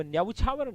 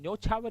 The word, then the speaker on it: न्यौछावर: अब न्यौछावर नहीं, न्यौछावर ही होता है, केवल एक ही मात्रा है, न्यौछावर।